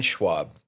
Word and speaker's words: Schwalb: today the DC attorney general can you uh pronounce your name I don't want to say it wrong Brian Schwab Brian Schwab right you got it Brian Schwab all right here we have uh Brian swab um here today we want to ask him